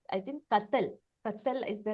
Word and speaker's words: Kathal: And not to confuse this with Kadal. I think Kathal. Kathal is the right The pronunciation.